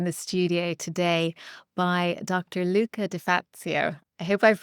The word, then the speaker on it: Luca De Fazio: Luca Deatzio. I hope I've pronounced your name correctly.